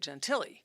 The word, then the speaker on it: Gentile: So that is the way the Italian Americans would say it, Gentili. Okay. But in my own podcasts and things, I say Gentile as well, because I think people may spell it wrong, like Gentilly, Yeah, yeah, yeah. or something like that.